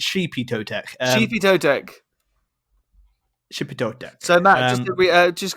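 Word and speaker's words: Xipe Totec: a mad name like it's spelled out x-ipe toe tech but which to be fair to you you kind of got it right it's sheepy toe tech shipping so matt uh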